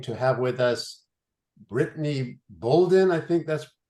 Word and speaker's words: Bouldin: We are especially blessed this evening to have with us Britney Bouldin. I think that's pronounced That's correct. right. Yep, you got it. Not Bouldin.